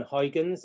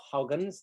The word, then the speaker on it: Huygens: logium was of course christian huygens or hoggins depending on how we pronounce him so give yourself